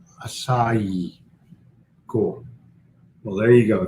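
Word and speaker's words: açaí: and then i'm gone aki is a fruit pronounced acai cool well there you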